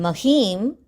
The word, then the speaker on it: Mahim: Here in Mahim, there is a im that is included, and be sure to pronounce that im while saying the shloka.